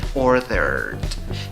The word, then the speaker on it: ordered: Ordered. Después de la R sigue la D en la pronunciación.